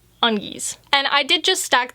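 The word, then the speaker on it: Ongis: half catfish hybrids and just given the monkey part i'm pretty sure you'd pronounce this undies and i did just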